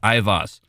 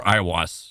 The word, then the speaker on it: Aiwass: he referred to as Ivas, or Iwas. There's multiple pronunciations.